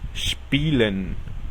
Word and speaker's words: spielen: La combinación de letras SP suena SHP y la combinación ST suena SHT. Por ejemplo, spielen, jugar, o Stuhl, que significa silla.